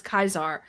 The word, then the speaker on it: Caesar: I love that they acknowledged the Caesar Kaiser thing. Yeah. Because in New Vegas, they refer to Caesar, the leader of the Legion, as Kaiser, but everyone calls him Caesar's Legion.